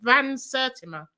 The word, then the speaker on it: Van Sertima: It's quite quite funny hearing you trying to pronounce it, but your initial pronunciation was correct. Vans Certima.